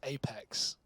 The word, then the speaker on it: apEX: No, it's pronounced Apex.